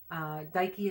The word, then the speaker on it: Dike: thank you thank you cuz it's Nike so it's dad like okay I'm not sure I don't know I don't speak Greek the Roman equivalent is just to TIA Daiki is spelled di ke I guess I should like no I'd like Nike ad so Daiki is the